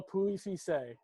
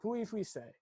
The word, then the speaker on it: Pouilly-Fuissé: You don't pronounce the L's, a little Pouilly-Fuissé. And if you say it very dainty-like, it just rolls off your tongue. Pouilly-Fuissé.